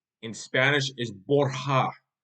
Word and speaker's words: Borja: Now, the actual pronunciation of the Borgia family name in Spanish is Borja, Borja. Borja. The J is silent.